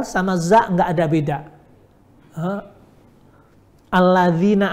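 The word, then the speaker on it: الَّذِينَ: Alladzina amanu dibaca allazina amanu.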